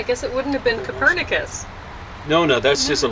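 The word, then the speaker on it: Kopernik: it wouldn't have been Copernicus no no that's just a latinization of his name I think it's foolish you tend to accent the second last syllable uh so it should be copernic but uh I think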